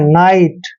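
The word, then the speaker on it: night: Next देखिए एन का उच्चारण न करते हैं और IGHT का उच्चारण आइट करते हैं, नाइट।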